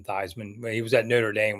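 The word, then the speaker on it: Theismann: I see him yeah he was originally called thevan and made it rhyme with high man thyman he was at Notre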